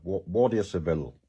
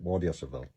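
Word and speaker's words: Guardia Civil: uh the Civil guard waria civil is the way they pronounce it waria cvil uh civil guard not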